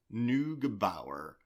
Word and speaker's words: Neugebauer: Neugebauer.